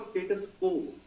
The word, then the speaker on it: status quo: Preserving of status quo. Pronunciation is like this. Quo. U is silent.